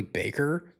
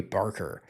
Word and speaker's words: Barker: I've been calling him Curry Baker. His name is Curry Barker.